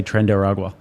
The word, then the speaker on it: Tren de Aragua: Rob, last chance to say Tren de Aragua. Tren de Aragua.